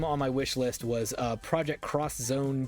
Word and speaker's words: Project X Zone: Or Project X Zone. I don't know exactly. I thought it was Project... Someone I think was like, I believe it's actually pronounced Project Cross Zone.